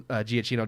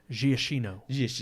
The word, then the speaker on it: Giacchino: Yeah, I'm just gonna say Michael Giacchino. I don't know. I'm pronouncing it in the Americanized way. Exactly, Giacchino.